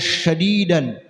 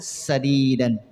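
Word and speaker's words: سديدا: Beda sadidan dengan syadidan ya Bu ya. Kalau sadidan itu benar. Kalau syadidan keras. Jadi kau jangan bacanya qaulan syadidan. Berbicaralah dengan berbicara yang keras. Salah kan ya. Jadi waqulu qaulan sadidan. Sa-nya sa kecil.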